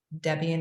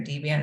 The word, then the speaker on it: Debian: You can use Fedora, Debian or Debian, however you want to pronounce it, some flavor of Linux.